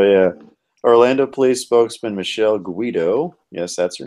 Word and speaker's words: Guido: Of course, if this is probably in Spanish-speaking countries, they actually pronounce it Hido. I know that because I know many people with that surname that pronounce it Hido, like Heedo. Spell it though. It's Guido, but they pronounce it Heedo.